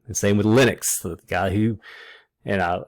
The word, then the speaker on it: Linux: um so just to settle that question it's linux it's lytics in this class anyway not that